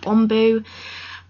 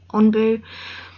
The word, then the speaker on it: ANBU: SAS, and it's called Onbu, and they wear particular masks. If you don't know what it is, look it up. It's spelled ANBU, Onbu, and there is a